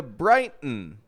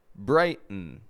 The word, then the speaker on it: Brighton: So when an unstressed syllable begins with the letter T and ends with the letter N, we will usually make a reduction between the 2 letters and only pronounce the N sound.